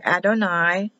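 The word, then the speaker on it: אדני: Yavarecheka, and they say Adonai. It's spelled Jehovah, but they'll say Adonai.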